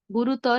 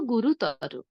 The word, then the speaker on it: গুরুতর: যেমন বৃহত্তর না বলে বলবো বৃহত্তর, ক্ষুদ্রতর না বলে বলবো ক্ষুদ্রতর, গুরুতর না বলে কি বলবো গুরুতর।